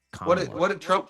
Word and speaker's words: Kamala: If you don't say Kamala, you're racist. So I say it. I say it the non-racist way, according to her minions. It's Kamala.